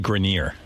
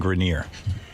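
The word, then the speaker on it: Grenier: It's actually Grineer. Adrien Grineer.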